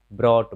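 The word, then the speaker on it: brought: तो जब भी यू जी एच रहे तो यू साइलेंट हो जाता है, यू जी एच टी रहे तो यहाँ भी यू साइलेंट हो जाता है।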